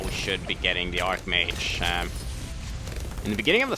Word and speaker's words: Archmage: We need to, or Archmage, is how you would pronounce it.